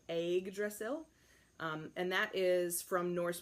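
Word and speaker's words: Yggdrasil: s IL and that's it's like egg like the way of southerner might say an egg so egg drizzle and that is from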